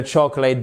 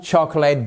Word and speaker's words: chocolate: The whole chocolate box. The whole ça veut dire l'entière toute là. D'accord ? The whole chocolate. Chocolate. Chocolate. Voyez, c'est pas chocolat. Non. Chocolate. Là, vous n'avez pas de voyelle, d'accord ?